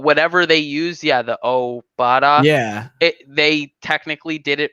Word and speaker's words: Obada: were both lowercase so the emphasis is on the o and not the ba like everyone else has been saying his name is not